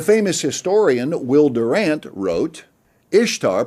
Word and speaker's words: Ishtar: historian will durant wrote ishtar pronounced easter interests us not only